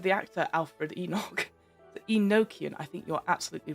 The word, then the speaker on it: Enochian: Enochian, I believe is pronunciation. Thank you, Phoenix Femme. Enochian. At least that's what I can recall Patrick Stewart saying the word.